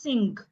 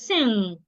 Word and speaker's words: sing: So you can have words like sing. A lot of people pronounce this word as sing. It is not sing. It is sing.